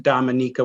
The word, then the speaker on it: Dominica: some tour was to be sure that we pronounced it dominica so that they were not to be confused with the dominican republic so they're very sensitive